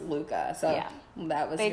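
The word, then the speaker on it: Lykke: I'll add about that book so she said Luka that's how you pronounce it so it's spelled like like so like totally botched name it's ly ke ke that and that's pronounced Luka so yeah that was they tell you that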